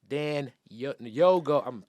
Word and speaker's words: Dagnogo: Dagnogo.